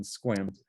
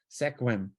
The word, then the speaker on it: Sequim: is it does a really interesting number on squims hey hey Siri what city do I live